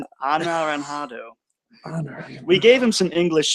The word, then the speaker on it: anaranjado: Yes, Anaranjado. Anaranjado. Yes, It means orange exactly. in Spanish, but with a J, we spell it with an H.